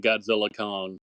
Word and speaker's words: Godzilla x Kong: Do we pronounce the X or is that silent between Godzilla Kong? So they came out, and I think it was the director said the X is meant to remain silent.